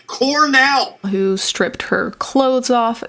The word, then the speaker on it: Cornell: about the girl at Cornell pronounced colonel it's the highest rank in the military it's pronounced Cornell who stripped her clothes